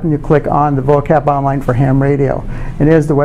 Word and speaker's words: VOACAP: And this VOACAP, which I pronounce it that way, stands for Voice of America Coverage Analysis Program.